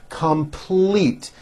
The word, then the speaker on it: complete: calls me every day complete this has a strong l in the second syllable complete we will complete our